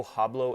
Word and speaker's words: hablo: Americans will sometimes say yo hablo español when they're speaking Spanish, and that H is usually incorrect.